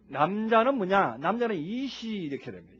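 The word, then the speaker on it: אִישׁ: 남자는 이시 이렇게 됩니다. 이시라고 발음을 합니다.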